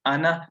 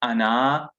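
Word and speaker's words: أنا: anna means i and is pronounced as anna not anna you may see an ali from the end but that alif is not pronounced at any point even though it's boon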